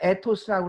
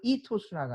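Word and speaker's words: ethos: 파토스는 감성이고 이토스, 우리가 에토스라고 그러는데 영어 원래 발음은 이토스라고 합니다.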